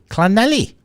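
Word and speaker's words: Llanelli: It's pronounced Clanelly in the valleys, something like that. Clanelly.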